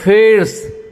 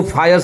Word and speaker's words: fierce: चलिए आज का 8th वर्ड ये रहा, That is fierce. Fierce. Fierce. फिर्स। देखिए FIRC ज्यादातर आदमी इसको फायर्स बोलता है या फियर्स बोलता है, ये नहीं है, ये है फियर्स।